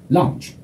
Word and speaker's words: lounge: Lounge. 다시요. Staff. Lounge. 그렇죠. Staff에서 F 발음 하는데 힘들어가야 되죠? Lounge 할 때 L 발음이 혀끝이 천장에 닿아야 돼.